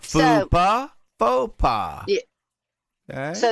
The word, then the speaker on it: faux pas: But then Mr. Folks Pa, or however you say it. I know I'm saying your name wrong. I'm sorry. Faux pas. Say it after me. Say it with me. Faux. All right. Faux pas. Faux pas. Say that. Faux you pas. say okay. Faux pas.